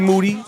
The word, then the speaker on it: Moody: in here with moody last name rhymes with duty no it's all the